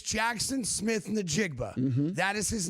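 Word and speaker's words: Smith-Njigba: It's Jackson Smith Nigba.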